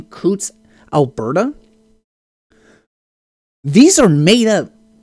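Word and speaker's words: Coutts: sitting in uh uh coots i think is the pronunciation kutz alberta these are made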